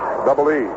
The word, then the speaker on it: Bouchee: He spells his name Bouchee. Edward Francis Bouchee, or Bouchee. I think the pronunciation for his name actually is Bouchee.